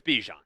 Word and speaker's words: Bijan: So technically, his family and his parents call him Bijan. Yes. But he likes Bijan. Yep. So it's Bijan.